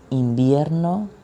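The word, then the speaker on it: invierno: season for season each winter or winter the pronunciation in spanish is in vienno it's summer es verano es verano es verano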